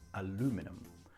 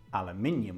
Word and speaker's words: aluminium: Aluminium is more like a tongue twister.